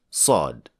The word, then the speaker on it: ص: for the fact that sod is the heavy version of scene in other words if you pronounce scene as a heavy letter you will get swad and so the tip